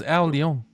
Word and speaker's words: Al Leong: His name is Al Leong. Oh, that's how you pronounce it.